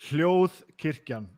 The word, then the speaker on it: Hljóðkirkjan: He works for Hljóðkirkjan. Right, now say it properly. Say it properly for me. Hljóðkirkjan, yeah. There we go.